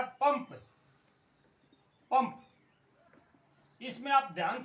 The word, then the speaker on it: पंप: मैंने आपको लिखा है पंप पंप इसमें आप ध्यान से देखें इस बिंदी का इसको बोलते अनुस्वार इस बिंदी का यहां पर उच्चारण य नहीं है न नहीं है म आता है पंप यानी के प